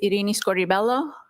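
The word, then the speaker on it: Irini Scordi-Bello: My name is Arini Scoribelloo. That's spelled I R I N I S C O R D I hyphen B E L L O.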